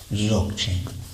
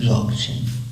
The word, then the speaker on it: Dzogchen: If you want to write it in English, you start with a D and spell it with DZ. Dzogchen.